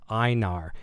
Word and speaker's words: Einar: See, I thought it was an L in there. I'm just getting a message about Einar. It says my name is pronounced Einar. Feel free to call me or whatever you want. So I was saying an L.